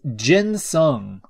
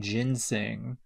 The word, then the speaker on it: ginseng: treat referred to as jin sung ginsong it's so funny i think somebody somebody mispronouncing ginseng yeah dr prell uh